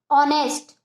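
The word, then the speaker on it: honest: अब हमारा तीसरा वर्ड है ऑनेस्ट। ऑनेस्ट, ध्यान देना, उच्चारण पे ध्यान देना, क्या ऑनेस्ट, अ, क्या रहा, आ, ठीक है।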